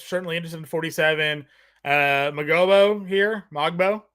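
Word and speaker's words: Mogbo: just looked it up it's mobo there's the g is silent there we Goan mobo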